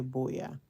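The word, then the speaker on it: Buea: b e a spelled b u e a Boya I know it's pronounces B they just say it's call it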